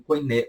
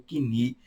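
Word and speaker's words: κοινή: para o idioma grego, grego koiné, ou kini, como você quiser falar, koiné, kini, ou comum, que seria esse detalhe.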